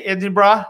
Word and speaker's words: Edinburgh: Is my pronunciation okay, Edinburgh? It's doing okay, right? You're doing well.